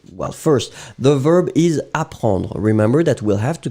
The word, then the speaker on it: apprend: first, the verb is apprendre. Remember that we'll have to conjugate apprendre in the present. Third person of the singular, so it will end with D. No S, you don't pronounce it, so il apprend, still the D should be here.